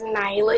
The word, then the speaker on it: Naila: your names correctly um my name is Nyla Nyla just Nyla thank you Nyla name